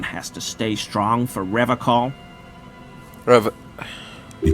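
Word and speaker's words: Revachol: to stay strong for revacol forever he pronounces River com with a hard K unlike other people I'm sorry did he say revical I like to pronounce it the hard way the old way the Vesper time way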